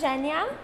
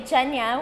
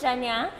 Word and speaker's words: Jhenya: For the people who do not know how to pronounce the name of the store, please tell them. It's Jhenya, with the J. A lot of people say Jhenya, which is completely fine, but it's Jhenya.